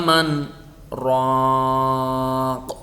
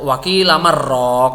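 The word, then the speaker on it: مَنْ رَاقٍ: Wa qila man raq gitu. Tidak wakilaman rok atau wakilaman sakatarok, bukan begitu.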